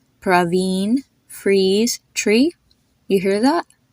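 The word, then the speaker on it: Praveen: in the name and it's pronounced the exact way you pronounce a double e in English like in the word freeze or tree it has a e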